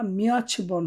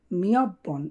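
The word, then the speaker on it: 몇 번: মিয়ব বন, উচ্চারণটা মিয়ছ বন হবে না, মিয়ত বনও হবে না, মিয়ব বন।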